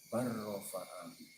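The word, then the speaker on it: بَلْ رَفَعَهُ: Kemudian bal rafa'ahu ini dibaca bar rafa'ahu. dalamnya diidghamkan. Jadi kalau dalam Al-Quran ada bacaan bal rafa'ahu, cara bacanya adalah bar rafa, diidghamkan.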